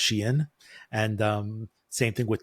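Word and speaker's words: Shein: learned within the last few weeks that it's pronounced Sheen and it's pronounced TAMU which is not the way I pronounced either of those brand names okay yeah like I always called it shine and U many people call the shine but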